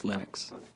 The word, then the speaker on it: Linux: But Linux is always Linux.